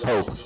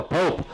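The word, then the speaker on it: Popp: Actually, from what I understand, just heard the PA guy is actually pronounced Pope, even though it's spelled P-O-P-P. So we'll go with that pronunciation. So Pope with the carry.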